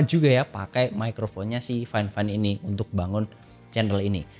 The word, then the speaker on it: FIFINE: literally tulisannya ya bacanya vfine kayak gitu ternyata yang benar itu nyebutnya bukan vfine tapi fineefine ya okelah fineefine aja kok